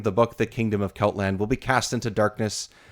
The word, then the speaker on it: Celtland: It's Celtland, right? That's the way to say it. that's right. Yeah, Yep. yeah. Okay. I don't know why I question myself, but Celtland has been cast into chaos by the theft of Elthill's book.